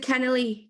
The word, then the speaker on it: Kennelly: Is it Kennelly, Claire? Kennelly. Kennelly. Kennelly. Yes. Kennelly. There's different pronunciations all across the island. So absolutely, you're dead right. In Cork, everyone says Keneally because there's an A at the end.